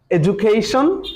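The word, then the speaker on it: education: তাহলে আমি আর একবার বলতেছি, সেটা হলো আপনারা একটু খেয়াল করবেন, এডুকেশন DU জু নট ডু।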